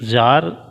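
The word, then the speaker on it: Tsar: और ये यहाँ के जो राजा थे वो कौन से वंश के थे, जार वंश के थे। जार टी साइलेंट है बच्चों।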